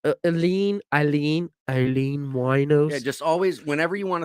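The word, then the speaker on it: Aileen Wuornos: down in florida i was like aline eileen eileen wino just always whenever you want to think of how to pronounce her name just think of a a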